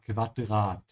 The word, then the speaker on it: Quadrat: Make sure to pronounce the U here like a soft V, ja? Quadrat.